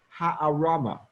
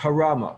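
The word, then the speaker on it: הערמה: This deception in Hebrew is called ha'arama. The hey, ayin, resh, mem, hey. Sometimes pronounced harama, a little bit more Ashkenazed.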